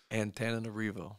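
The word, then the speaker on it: Antananarivo: several variations that led us to the correct pronunciation of ant arivo there you go beautiful city Beautiful People great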